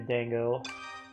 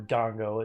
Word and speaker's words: dango: here you go enjoy a Dango or Dongo as it should be pronounced and Wendy you can